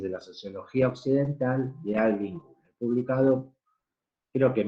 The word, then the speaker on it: Alvin: La otra corriente que voy a presentar ahora fue planteada también por un sociólogo estadounidense que se llamaba Alvin, así como suena, con B corta, Goulder, se escribe G-O-U-L-D, Goulder, que vivió entre 1920 y 1980.